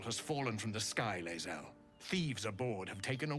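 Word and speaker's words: Lae'zel: I've been mispronouncing her name this entire time. Lazel, okay.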